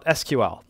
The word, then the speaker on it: SQL: 我们来聊聊 SQL 或者读作sequel 一种结构查询语言 SQL 是一种语言但并不能算是编程语言而是一种用来表示查询的语言所以你可以在关系数据库中用上 SQL 用它来查询数据库